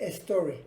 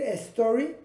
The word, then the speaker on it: story: Bueno, al pronunciarlo, como empieza con sonido, con S, seguido de consonante, aquí nos va a dar la tentación de decir story. Para evitar decir story, para evitar meterle una E, la pronunciamos pegada a la palabra anterior. Never ending story. No me paro aquí, lo pego. O hago la S más larga. Never ending story. Así es como se pronuncia.